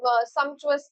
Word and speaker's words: sumptuous: खाने के लिए बोलते हैं, सम्पचुअस जैसे होता है, तो ये तो नहीं होगा स्पेलिंग। पी का साउंड आ रहा है इसमें, पी लिखा ही नहीं है, प्रिजोम्पचुअस नहीं है वो।